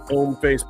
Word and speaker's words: Hommeface: You get the handy dandy Hommeface bag. The H is silent. That's a silent H there. Hommeface, because it's French for man face.